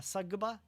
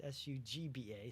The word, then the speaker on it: Sugba: There is also the Sagaba Lagoon, I think, if I'm pronouncing that correctly. The Sugba, it's Sugba, so Sagaba Lagoon.